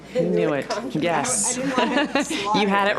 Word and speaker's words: Inuit: How do you pronounce that? Inuit? Inuit, yes.